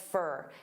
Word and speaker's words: for: And for also becomes very unstressed, fur.